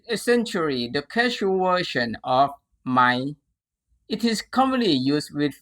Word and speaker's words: ไหม: Let's start with ไหม ไหม The standard spelling and pronunciation according to traditional Thai writing is actually สระอายไม้มะลายหอหีบมอม้า pronoun ไหม ไหม This word is used to create general questions.